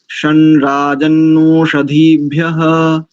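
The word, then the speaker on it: शं राजन्नोषधीभ्यः: तो गड़बड़ हो जाएगी, हल्का सा ना की भांति षणराजन, यानी रेफ के साथ इस ग्वांग के उच्चारण को संयुक्त करते हुए तो उच्चारण निकल करके आएगा शनराजन्नोषधीभ्यः।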